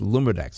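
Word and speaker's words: LumiraDx: Oh, so it's got a capital D and a little X, so it's Lumidex is how you pronounce it.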